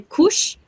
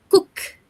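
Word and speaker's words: Koch: A gente também tem que falar que a pronúncia do nome dela, por fato curioso, a gente lê cush, mas a gente fala cook.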